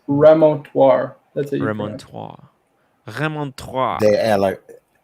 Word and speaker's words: remontoire: It's remontoire. That's it. Remontoire. Remontoire. How do you pronounce that other one?